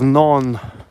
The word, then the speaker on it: Nantes: The the city of Naon, which is spelled N A N T E S.